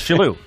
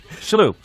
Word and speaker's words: Shillue: Today, we're with a very, very close friend of mine, Tommy Shillue. Tim Sherrod. You're pretending you don't know. It's Shillue. Shillue.